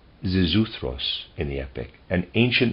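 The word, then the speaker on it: Xisuthros: Zisuthros, I'll try to pronounce it, in the epic, spelled X-I-S-U-T-H-R-O-S. Zisuthros in the epic, an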